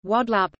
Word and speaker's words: Guadeloupe: Guadeloupe, French pronunciation, Guadeloupe, Antillean Creole, Guadeloupe, is an insular region of France located in the Leeward Islands, part of the Lesser Antilles in the Caribbean.